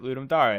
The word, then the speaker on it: Ludum Dare: lewd and dari and the guy pronounced that Ludum dare I so I said okay that's what it is and it's it's lots of it's Latin for to give a game so I wasn't really